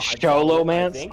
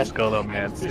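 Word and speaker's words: Scholomance: literally pronounced as Sholomance on the server I played on in vanilla. Yeah, but it's called Skolomance in the Blizzard lore.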